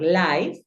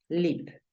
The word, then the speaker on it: live: En este caso, no lo vas a pronunciar live, que si nosotros miramos, sería una regla que si aplicara, termina en E, una consonante, la I podría sonar I, pero en este caso no sucede así. Entonces, ¿qué pasa? Tú la pronuncias live, no aplica la norma.